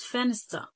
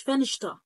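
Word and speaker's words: Fenster: لو جايي في النص زي كلمه فنست فنست فنست يعني شباك تمام فانا قلتش فنش لقيت مره واحد والله العظيم نطقها لي فنش ليه عصل انا واحد لقي نطش لا يا حبيبي لابقى اسمع الكلمه ننطق الاول لو جت في الوسط هنا بتبقى ستا عادي فن ستا فنست اللي هي اللي هتنطق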